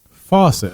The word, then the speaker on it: Fawcett: of another company called fawcett comics faucet okay like so like it's spelt like ferrofaucet so where's joins faucet